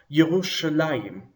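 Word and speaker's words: ירושלים: a duel but it functions as a singular yerushalayim yerushalayim Jerusalem this word also looks like a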